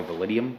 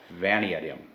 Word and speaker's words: Vanadium: a 4150 Chrome Molly validium V vum I always pronounce that word wrong Vanadium yeah we'll just go